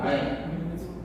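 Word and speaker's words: أين: সেটা কি উচ্চারণ কি ওয়েন হয়? ওয়েন, ওটা প্রচলিত, আচ্ছা আচ্ছা, কিন্তু শব্দটা আসলে ওই না, আয়না।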